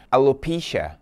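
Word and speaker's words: alopecia: heroísmo ela sofre de Alô pinscher Alô pinscher alopécia né a pronúncia em inglês é alô pinscher é uma doença auto-imune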